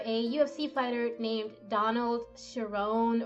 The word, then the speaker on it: Cerrone: He's modeled after a UFC fighter named Donald Cerrone, or Cerrone. I'm sure I'm like pronouncing that wrong. It's Cerrone.